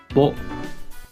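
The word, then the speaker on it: ぼ: Ho with the dakten is pronounced bo.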